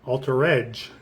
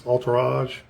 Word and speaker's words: altarage: But you can say it altarage. Like us regular Americans say it. But it's altarrage. Kind of like entourage.